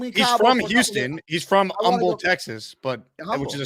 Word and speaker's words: Humble: No, no, it's Um, the H is silent. You know that. That's what I said. I said Um, Texas.